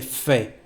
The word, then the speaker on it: fait: this way so fair we say Fe there is a t but you don't pronounce it Fe same thing for de